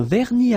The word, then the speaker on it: vernis: Final S here not pronounced. Same thing here.